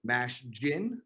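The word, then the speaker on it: Mashgin: messes this up so it's mash gin like a gin and tonic which i will have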